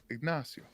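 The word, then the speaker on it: Ignacio: nacho Grand name his first name was ignasio Nao in in in Spanish um when your name is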